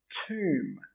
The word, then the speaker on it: tomb: And the third word, tomb.